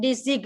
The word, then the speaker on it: design: No G sound. Right. Not design. No. Design. Right.